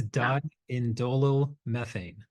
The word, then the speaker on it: diindolmethane: pronounce that word do you know how to pronounce that word It's dindolmethane. So, DIM diindolmethane is the name of this this molecular form